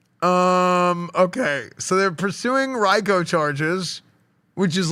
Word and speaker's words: RICO: Um Okay, so they're pursuing Reicho charges. which is like Yeah. Yeah. Um that's wild. They're going damn. Yeah. Reicho. Rico. I've always called it Reicho. But chat, you guys are all pronouncing it wrong.